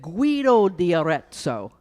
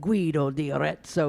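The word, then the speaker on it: Guido d'Arezzo: a Benedictine monk named Guido de orezo and I had to say it like an Italian my best my best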